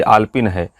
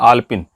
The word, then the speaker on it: आलपीन: आलपिन, आलपिन दीजिए, ये आलपिन है। अब देखिए उच्चारण में कितनी गलती कर रहे हैं, आलपिन, जबकि वो आलपीन है। आलपीन पीन, ये सही शब्द है।